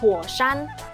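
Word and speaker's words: 火山: Bahasa Mandarin dari gunung api artinya huoshan.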